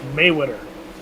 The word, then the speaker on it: Mayweather: pronounce that name alex it's mayweather mayweather kind of like mayweather gonna throw some haymakers